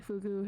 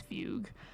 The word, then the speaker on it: Fugue: And also currently Fugu has not um that's not how you say her name, it's Fugue.